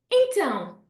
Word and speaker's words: então: Então, então. That really nice nasal sound again. You spotted the worm, so you know that that has to be a nasal A, okay?